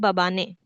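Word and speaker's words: Mbabane: A very sweet language मबाने मबाने बाबा ने शुरू में एम मैम को साइलेंट कर दें बाबा ने याद करने के लिए इस वातिनी का पुराना नाम जरूर पूछा जाएगा।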